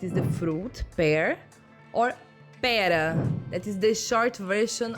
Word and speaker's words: pera: A fast example I can remember is, for example, in the two words pera, that is the fruit, pear, or pera, that is the short version of the word espera, to wait.